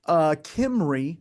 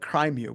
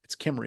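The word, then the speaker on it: Cymru: Kimry, or some people call it Crimu, but it's Kimry is how it's pronounced, because it's Welsh.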